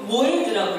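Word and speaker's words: מועד: 그래서 절기를 성경에서는 뭐라고 쓰이냐면은 히브리어로 모에드라고 읽어요.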